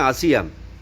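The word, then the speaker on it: Asia: तो इसी तरह बन जाता है आसिया, जिसको हम एशिया कहते हैं। इंग्लिश में इसको एशिया हो जाता है, इसका असल नाम है असल प्रोनाउंसिएशन है आसिया, जो माँ पार्वती के नाम पे रखा गया है।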